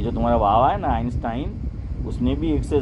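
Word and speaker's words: Einstein: آئنسٹائن صحیح تلفظ ہے؟ آئنسٹائن ہے.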